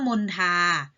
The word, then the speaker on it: มณฑา: มน ทา กุณฑล บัณฑิต คำ ว่า มณฑา คอ มณโฑ ออก เสียง เป็น ท ทหาร นะ คะ คุณ ทน ออก